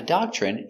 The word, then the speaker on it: doctrine: Remember, when you have TR together, it makes the chicken sound, ch.